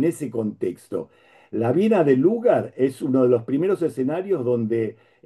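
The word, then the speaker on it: Lueger: Eh, y Lugar, Lugar en realidad se podría decirse Lugar porque quiere decir eh que se escribe con u, pero eh pero se pronuncia, no sé por qué eh cuestión ortográfica, lugar, así como si fuese u sola.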